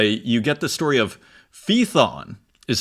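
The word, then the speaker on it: Phaethon: ID's Metamorphoses uh you get the story of feon is how you pronounce it P H AE t h n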